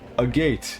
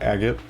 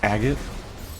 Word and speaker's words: agate: that makes me sad the actual pronunciation of agot AG g a t e e oh wait e e no AG g a t e I do not like how that's pronounced I spent my whole life calling it Agate it's just agot okay the cat has